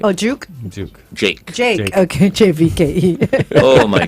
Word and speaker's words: JVKE: Juke, right? Oh, Juke? Jake. Jake. Okay, JVKE. Oh my God. Can you imagine that, Anthony? JVKE is Jake.